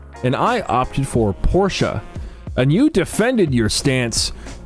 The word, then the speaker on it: Porsche: Speaking of not my thing, Porsche, at least not usually.